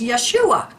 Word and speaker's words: Yeshua: his name was pronounced Yeshua the a representing a guttural ending but Jesus is the